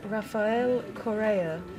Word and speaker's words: Rafael Correa: in any language to our BBC broadcasters the pronunciation of the Ecuadorian president's name is Rafael Correa most of our work concentrates on foreign pronunciations